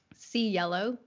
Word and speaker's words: Cielo: And it's a coincidence, but it's also how I tell people how to pronounce my name. See yellow.